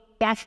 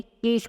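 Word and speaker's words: cash: आमतौर पे लोग, कोई कम्युनिटी के लोग कैश नहीं बोलते, केश बोलते हैं, केश। ओके, उसका उच्चारण होना चाहिए कैश होना चाहिए।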